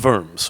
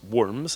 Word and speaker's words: Worms: western Holy Roman Empire in worms or worms I guess we'd pronounce it in English and then engaged in